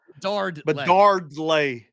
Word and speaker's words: Bedard: There's a D in the kid's name. It doesn't work for it's Bedarle. Bedardle. It hurts your jaw when you say it like that. Bedarle. Just flows. Saying the kids and saying me saying Ovida and dropping things. I'm not dropping my D. I'm not dropping it.